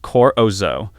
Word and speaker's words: corozo: And there was ivoroid, which was made from vegetable ivory, the ground pulp of the corozo nut, pronounced corozo, carved to look exactly like real elephant ivory.